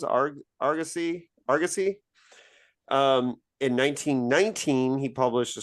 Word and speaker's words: Argosy: And but probably his standout, like here I am, a fantasist, a science fiction writer, was in Argosy. Is that how it's pronounced? Argosy?